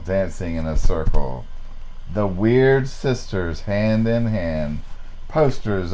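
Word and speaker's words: Wyrd: no I looked it up it was the Weird Sisters and there's actually a band and Canada called The Weird Sisters they spell it WY Rd weird now it's pronounced weird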